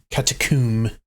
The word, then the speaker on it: catacomb: go to the catacomb or as they pronounce it in this game katakum looked rather dark in